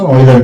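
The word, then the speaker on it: Euler: daughter उसको उसको popular बनाया था ओर अब हम यूनर नहीं ओर प्रोनाउंसिएशन ऑइलर करेंगे ठीक है तो उसको पॉपुलर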